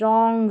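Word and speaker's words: wrong: डब्ल्यू आर के combination पे तो इसको right रॉन्ग, rap, rest, rack पढ़ेंगे। इन स्पेलिंग्स की फिर से प्रैक्टिस करें और अच्छी तरीके से सीखने के लिए।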